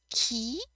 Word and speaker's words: qui: and ku you want to make sure you pronounce ki ku so in this sentence here section it's